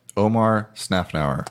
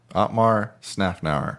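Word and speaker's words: Otmar Szafnauer: Their new team principal has a very hard name to pronounce. So Jeff, Omar Snafnauer. almost Otmar. Otmar Snafnauer.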